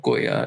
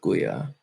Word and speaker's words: Goya: The play in the original Persian is that Juya, which is suggesting the searching, rhymes with Goya.